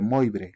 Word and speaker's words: Moivre: se conoce como la fórmula de Moix o de Moivre, como algunos también lo pronuncian.